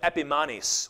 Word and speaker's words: Epimanes: Behind his back, they called him Epimanes, which rhymes with Epiphanes, but Epimanes means madman, which is exactly what he was.